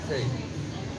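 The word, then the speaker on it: crêpe: I'm saying crepe in French. And when you say it in French, it's not an it's not an A, it's something in between that.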